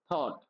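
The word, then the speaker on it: thought: थॉट। तो यहां पे भी क्या होगा? जी एच साइलेंट होगा।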